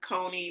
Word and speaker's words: Coney: t m e k Cony like Coney Island so Cony you could Google you'll